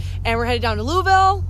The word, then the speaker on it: Louisville: we're headed down to louisville or louisville as i'm told the locals pronounce it and we're going